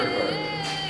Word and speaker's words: Urquhart: Is that how you pronounce that? Yeah, Shari Urquhart.